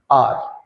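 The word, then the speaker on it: our: तो देखो सी जो प्रोनाउंसिएशन है वो ये होगी आर, ये अवर नहीं होता, इसको बोलते हैं आर, ठीक है ना।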